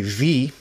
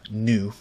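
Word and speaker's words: ν: This is the original form was E equals H in what we would say V, but it's actually the lowercase Greek letter of nu.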